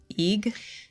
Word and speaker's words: Eigg: So you grew up in Edinburgh on the Isle of Eigg? So, yeah, I was born in Edinburgh, and then when I was 6, we moved off to the Isle of Eigg, pronounced like Egg.